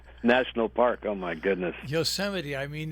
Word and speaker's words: Yosemite: how many lows are left uh including uh mispronouncing certain a certain national park oh my goodness yosemite i mean it's uh for gosh sakes even